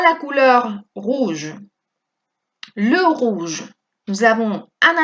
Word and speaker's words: rouge: On prononce tout de la même façon. De la misma manera vamos a pronunciarlo todo. Rouge, rouge, rouge, rouge.